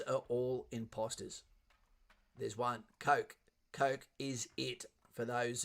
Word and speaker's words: Coke: see if I want cock. And you go, mate, let me tell you for starters, I'm gonna remind you that it's pronounced Coke.